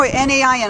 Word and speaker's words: Nain: For instance, there was one thing where it talked about the town of, I don't know how to pronounce it, N-A-A-N, no, N-A-I-N, I think it's Nain.